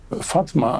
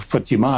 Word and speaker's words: Фатіма: дочка пророка Мухамеда Фатма Фатма або Фатіма або Фатіма різними мовами по-різному вимовляють це ім'я була як відомо дочкою